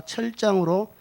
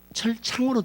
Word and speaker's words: 철장: 그런데 그 아이는 어떤 아이냐면 장차 철장으로 만국을 다스릴 남자라. 철장이라는 한자는 철로 된 이렇게 지팡이입니다. 철로 된 지팡이로 항아리를 딱 깨면 깨지잖아요. 근데 발음이 철창으로 자꾸 돼요.